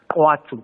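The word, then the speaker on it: Khwatu: It's called Guatu, but it's spelled K H W A T U but it's pronounced, right?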